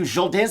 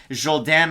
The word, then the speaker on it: Jourdain: So you like to see that out of the Montreal area for Charles Jourdain. Matt, everybody loves it when we go with the French pronunciation.